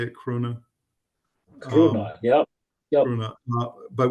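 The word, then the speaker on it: króna: I think, is that how you say it, krona?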